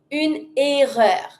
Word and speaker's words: une erreur: Same as an error, but in the pronunciation slightly look different. Une erreur. Pronounce everything, and because it starts with a vowel, we can even connect it and say une erreur. Connect it fully.